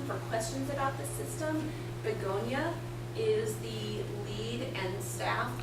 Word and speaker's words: Begonia: Begonia? Could you spell it? And is it like the flowers? Yes. Same. Okay. Yeah. Begonia. Yeah. V, that's a V. No. B. Begonia.